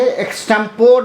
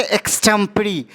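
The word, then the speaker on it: extempore: ओ आर E guys इसे हम क्या पढ़ेंगे एक्टेंपोर नहीं पढ़के इसे हम पढ़ेंगे एक्सटम परी एक्सटम परी मतलब होता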